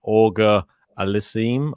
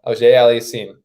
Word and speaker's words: Auger-Aliassime: He's got to be a little French, you got to have that French little AUGER-ALIASSIME, Well, he's got a new button.